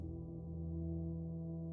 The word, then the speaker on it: Rochelle: The pair had a one night stand which resulted in pregnancy — they had a daughter, Rochelle (Pronunciation: Ror-shell).